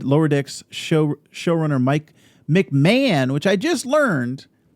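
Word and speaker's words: McMahan: decks show showrunner mike mcmahon which i just learned you pronounce his name mcmahon and dawn lewis uh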